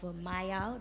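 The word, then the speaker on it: Myal: You were speaking about ways in which you take people out of Mayal, that's how you pronounce it.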